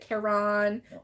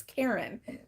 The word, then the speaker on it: Caron: he's like you know people pronounce it Caron or Caron or something like that but it's Karen like the girl's name so Karen simply soft